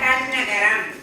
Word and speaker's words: டண்ணகரம்: நாம எப்படி உச்சரிக்கலாம்னு சொல்றேன் இந்த நா பாத்தீங்களா மூணு சுழி நானு சொல்லக்கூடாது சரிங்களா இந்த நாவுக்கு பக்கத்துல ட இருக்கு இல்லையா அதனால இது டன்னகர நா ஓகேங்களா டன்னகரம் இது பேர் என்ன தன்னகர